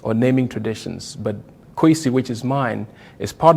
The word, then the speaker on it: Kwesi: So we can see the phonetic similarity between what I put in K-W-E-S-I, Kwesi, and C-U-E-S-I, which most people will pronounce Kwesi or some variant.